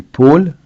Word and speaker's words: Paul: Vous avez aussi les Paul et Paul, qui bizarrement, bien qu'ils le prénom s'écrivent AU, se prononce avec un O ouvert, un O, et non pas O.